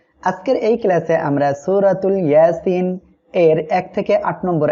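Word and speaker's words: يس: হবে তাহলে আমরা এখানে পড়বো ইয়াসিন ইয়াসিন এটা হলো হরুফে মুকাত্তা যার অর্থ শুধুমাত্র মহান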